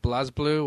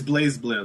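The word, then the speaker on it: BlazBlue: be pronounced but it's it's meant to be like blaze blue because it's kind of in the Japanese is a little bit of a a pun on like Brave blue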